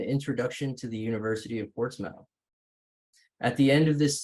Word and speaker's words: Portsmouth: at the University of Portsmouth it is written as port's mouth but it's pronounced as Portsmouth um here in the